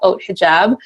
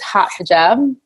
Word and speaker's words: Haute Hijab: found co-founder founder of oat hijab otherwise known as hot hijab however you'd like to pronounce it it's cool with me